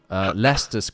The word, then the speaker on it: Leicester: when you read it it's green witch or lester leicester leicester square when i went to leicester square